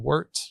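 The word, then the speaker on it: wort: And we're going to create this liquid called wart, which is spelled wt.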